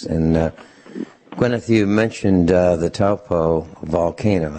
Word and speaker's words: Taupo: that was erupted into the atmosphere during the Taupo eruption settled in the upper atmosphere and circulated all over the planet.